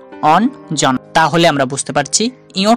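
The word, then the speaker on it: অঞ্জনা: আমরা কি উচ্চারণ করি হ্যাঁ এই বানানটা আমরা উচ্চারণ করি অন জনা অন জনা তাহলে আমরা বুঝতে পারছি ইয় টাও দন্ত ন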